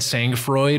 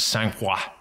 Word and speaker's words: sangfroid: to glass preference thing do you want people to do the American or Germany size pronunciation of your brand sangfroid or do you like that French sang-hwa I say you say however you feel comfortable staying in we're fine with anything it even says on our bottle however you pronounce it the meaning is the